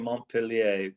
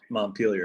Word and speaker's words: Montpellier: All right, and thank you for pronouncing Montpellier properly for me. I'm used to the American version, up in New England there, Montpelier.